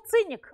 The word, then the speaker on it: циник: Наше слово «циник» отсюда, потому что там эта буква «к» произносится в средневековой латыни как «ц».